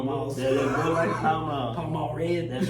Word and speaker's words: Pall Mall: Yeah, Bud Light and Pall Mall. Pall Mall Red. That's right. Pall Mall Red. You know, look. Fun fact: my granddad, he used to smoke Pall Malls, and he pronounced it pale male.